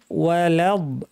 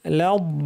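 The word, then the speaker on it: ولا الضالين: আদ-দু, মাগদু, গয়রিল মাগদুবি আলাইহিম ওয়ালাদ। লাদ বলার সময় লাম পাতলা, বদ ভারী। লাদ, অনেকে লাম শুদ্ধ ভারী করে লদ এইভাবে বলেন, এটা ঠিক না।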